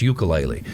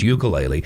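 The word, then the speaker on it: Uiagalelei: And everybody continues to mispronounce the quarterback for Clemson's name. It's ukulele. Even his family mispronounces it. He mispronounces it. It's ukulele. It's DJ Ukulele.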